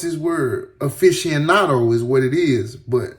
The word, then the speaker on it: aficionado: He was also a longtime hip-hop aficionado. Hold on. Because I do not want to mispronounce this word. Aficionado is what it is, but let's make sure.